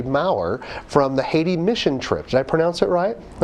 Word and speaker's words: Mower: Did I say it right? Yeah, It's Maurer.